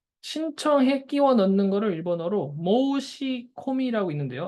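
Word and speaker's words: 申し込み: 그러면은 보세요 그냥 읽으면 모시 코미라 돼 있습니다 이거 어때 신 신청해 끼워 넣는 거를 일본어로 모시 코미라 있는데요 앞에 한자를 모시라고 읽어요 모우시 뒤에 거를 코미라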